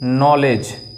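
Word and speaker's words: knowledge: नॉलेज, नॉलेज, नॉलेज में क्या होता है, के साइलेंट रह जाती है।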